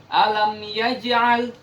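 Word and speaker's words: ألم يجعل: Nah, karena huruf jim ini berada di tengah kata atau tengah ayat, nah, jadi kita membacanya dengan qalqalah sughra. Jadi qalqalahnya atau bunyi pantulannya harus beda dengan qalqalah kubra. Nah, karena qalqalah sughra, jadi bunyi pantulannya kecil. Nah, saya ulang.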